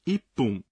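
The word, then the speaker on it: 一分: Mas aqui o caso é um pouco mais complicado, porque metade dos números mudam a pronúncia, de fun para pun. 1 minuto, por exemplo, em japonês fica ippun.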